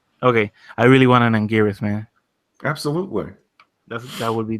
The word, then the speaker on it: Anguirus: I really want, and I might butcher the name because I don't know if it's pronounced right. Anguirus? Yeah, you got it. Okay, I really want an Anguirus, man.